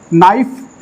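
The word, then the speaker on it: knife: हो जाता है और आपका नाइफ यहां पे के साइलेंट होता है एफ ही ए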